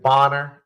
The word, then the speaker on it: Bonner: enjoying the conversation with Mr is it boner is that's how you pronounce it yeah you you you got it